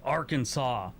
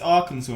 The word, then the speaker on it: Arkansas: used to use lead in our pencils 25 arkansas arkansas joined the union on june 15 1836